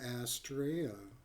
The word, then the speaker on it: Astrea: It is an Astraa. Okay, that's how you pronounce it.